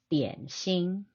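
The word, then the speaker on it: 点心: as dim sum, but that's not really an accurate way of saying it in Chinese. Dim sum, actually, if you want to be accurate and say it properly, is a combination of two Chinese characters. And so in Mandarin, it's 点心, meaning touching of the heart.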